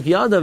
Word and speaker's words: yadav: The pasuk yadav, it's a Greek sieve. It says, Vayisa Aaron es yadai, he lifted up his hand, but it's spelled yadai, and it's read yadav.